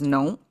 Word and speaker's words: 农: Okay, this pronounces nong. Agriculture, it means.